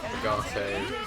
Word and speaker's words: agate: Being a geologist in training, it's pronounced Agate. Ugote, Agate, Agate. It's a mineral.